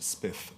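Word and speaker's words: XSPF: So this is one of the reasons why I created uh the XPF pronounced spith playlist format a few years ago with some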